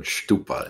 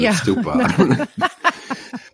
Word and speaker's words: stupa: Yeah, and I realized that I called it stupa instead of stupa. I don't know why. That was the Yiddish pronunciation.